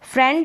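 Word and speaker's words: friend: अब आगे देखते हैं फ्रेंड जो है ना यह फ्रेंड में आई का उच्चारण ए कर रहे हैं क्या कर रहे फ्रेंड ए ठीक है फ्रेंड इस ए के रूप में फ्रेंड आप देखेंगे तो यह ए इसका उच्चारण हो रहा है सिर्फ फ्रेंड में होता है ऐसा ठीक है यहां तक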